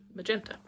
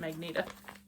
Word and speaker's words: magenta: No Dye Lot Magenta. I have a friend who always pronounces that Magneta. I'm like, it's magenta. Read it again.